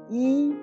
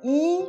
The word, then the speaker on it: 一: Par exemple, 一杯水 Vous voyez, dans ce mot, le caractère yi, je prononce en i. Donc, j'ai changé du premier ton en quatrième ton. Parce que le caractère juste après, bei, il prononce en premier ton.